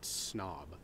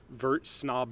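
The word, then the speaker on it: Snabb: Probably the just most goofy, ludicrous one I've ever done was I think it's pronounced snob, S-N-A-B-B.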